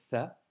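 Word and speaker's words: ثاء: Aujourd'hui, nous avons vu la lettre Tha, qui s'écrit avec 3 points et qui se prononce th, comme le mot think en anglais.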